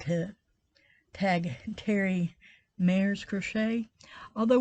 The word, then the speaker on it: Mares: I would like to tag Terri Mare's Crochet, although when she says it, it sounds like a D, but it's written with a R.